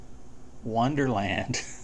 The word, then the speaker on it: wmderland: window manager Durland and he does say that it's pronounced Wonderland and it is really